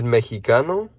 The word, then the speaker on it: mexicano: mexican would be el mexicano la mexicana notice that this x is pronounced like an h in english or a j in spanish okay we have puerto